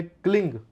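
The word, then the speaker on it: क्लीं: शनिवार को काली मिर्च लीजिए 11 और उस काली मिर्च को 1000 मां काली का बीज है क्लिंग। के एल आई एन जी। आपको यह उच्चारण करना है। क्लिंग उच्चारण करना है।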